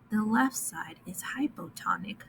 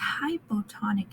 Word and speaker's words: hypotonic: So a cell in a hypotonic environment, in a hypotonic solution, will swell up like a hippo, which is how we remember this. Hypotonic rhymes with hippo, hippo.